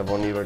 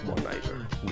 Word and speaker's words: Bon Iver: Que sí, amigos de Iteso, se pronuncia Bon Iver, no Bon Iver.